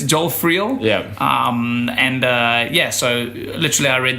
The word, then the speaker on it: Joel Friel: Joel Filio. Oh, sorry. Joel Filio. No, it's close. Sorry. It's close. Your pronunciation. It's Joel Friel.